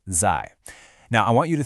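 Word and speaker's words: 在: First up, we have the character zai, pronounced zai.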